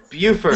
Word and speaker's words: Beaufort: Buford. Buford scale. Okay. Now, just because this word looks French, like before. Yeah, it does, but it's the English pronunciation of it.